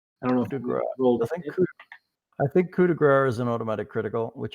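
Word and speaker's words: coup de grâce: As a full round action, you can use a melee weapon to deliver a coup de grace, pronounced coup de grace, to a helpless opponent.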